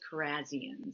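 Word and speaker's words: Kharrazian: Datis Carzian if I pronounced that correctly. You actually pronounced his name better than I do. I would say Corasian. It actually is carazzian.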